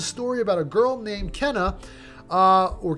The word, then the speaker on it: Kena: about a girl named kenna uh or kina i can't really pronounce the name i think it's kinah some people say kina in the game some people say cannot oh there is voice